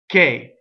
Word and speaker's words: che: performance so let's begin the first word is K so it'd be H after the C makes the the C hard K right so see e would be j CH e is K this has a closed e what is known as a closed de so close D is